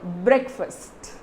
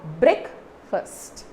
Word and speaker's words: breakfast: it's called brick first see remember if it is not e a instead of that if it is only e how do you say the word brick it's not break right it's not break never say it's a break fast it's very wrong friends it's brick it's brick and remember if you